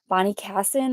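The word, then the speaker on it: Bonnie Cashin: Bonnie, Bonnie Kassen, I believe is how you say the designer's name.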